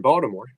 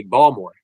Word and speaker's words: Baltimore: boltimore New York but there's a t in Baltimore Bal Baltimore unless you're actually from Baltimore and then it would be balmore that's how they say it that's how then you